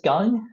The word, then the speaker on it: Gung: And so my name is Gung. If it's easier to remember, it's pronounced like Gung Ho, and I'm the CEO and co-founder here at Civic Champs.